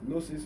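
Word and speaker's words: Gnosis: Now you can also follow me on Facebook or or the Nosis help initiative. Nosis is G N O S I S. The G is silent.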